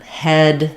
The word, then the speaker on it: head: so that's one that where you just have to learn that the spelling doesn't match our typical pattern and visualize it in your mind as being more that e sound The Lax e is a little bit higher than the starting point for the a um a little bit more open that is and um we have just stable sound again head no gliding no dip thong so hate head once